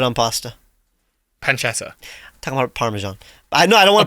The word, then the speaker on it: parmesan: pasta pancetta talking about parmesan i know i don't want to promote you you say parmesan not parmesan parmesan like a lot of british parmesan yeah okay so